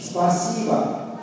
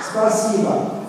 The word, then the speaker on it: Спасибо: Спасибо. Спасибо. Спасибо.